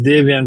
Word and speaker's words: Davian: Is it Davion or Davion? It's Davian, but it doesn't matter to me in any way because I don't use my government name at all.